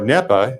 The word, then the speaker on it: NEPA: Okay, well, first of all, I want to kind of put NEPA, or NEPA, as Professor Linton Caldwell, one of its primary authors, referred to it as. So both pronunciations are acceptable.